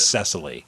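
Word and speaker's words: Cecily: cast memb next uh sisily strong oh oh cesal strong CES or sisily cesal it's spelled with a CE so it's sesily uh strong performer I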